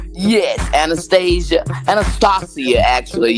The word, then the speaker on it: Anastasia: Anastasia, actually. It's supposed to be pronounced with some regalness. It's Anastasia.